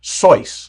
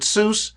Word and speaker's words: Seuss: was Geisel's middle name, is actually supposed to be pronounced Seuss, like the word voice. But so many people pronounce it Seuss, like juice, he just gave up and embraced it.